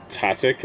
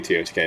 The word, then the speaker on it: TOTK: Is it pronounced T-O-T-K or Totic? It's definitely T-O-T-K. If anyone says Totic, they need to go to therapy.